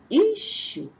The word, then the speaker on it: issue: don't have this sound they go for here they say e that's wrong please don't say that it's not e but issue issue all right so the